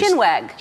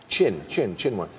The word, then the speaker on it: chinwag: Shinwag. Chinwag. Did chin. I mispronounce it?